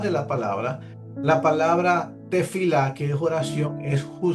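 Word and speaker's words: תְּפִלָּה: Así se pronuncia, se pronuncia tefilá.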